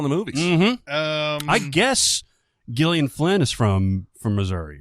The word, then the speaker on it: Gillian: things did you say Gillian huh it's not Gillian no it's Gillian God this world blows my mind I guess the name starts with a G and it's spelt like Gillian it's Gillian usually immediately